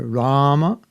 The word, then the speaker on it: Rama: the s hare krishna so that rama is a long it's a long a the first a is long and the last day is short rama and sometimes devotees chant ram harem have you heard that prophet said that's okay also either rama the proper sanskrit is rama harem rahm is okay okay radha you had